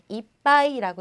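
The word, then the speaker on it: いっぱい: 자, 우리 이 이빠이라는 단어는요, 여러분께서 뭐 이빠이, 이빠이 많은 이렇게 많이 얘기를 해주시는데 이빠이라고 읽으시면요, 한 잔, 한 잔, 두 잔 할 때 한 잔이 되는 거고요. 이빠이라고 읽어주시면 이빠이, 이빠이 이렇게 읽어주시면 가득, 많이 이런 뜻이 되니까요.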